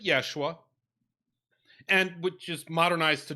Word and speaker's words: Yeshua: was more than one there was a dude joshua they would have pronounced it yeshua and which is modernized